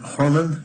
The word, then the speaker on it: Horman: So is it Horman? Am I pronouncing that right? Horman, correct. Horman.